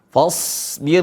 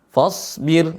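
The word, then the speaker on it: فاصبر: Huruf shad tebal, tapi teman-teman sebagian karena udah tahu huruf shad ini tebal, seringkali fa-nya ikut tebal. Yang benar adalah fa-nya tetap tipis.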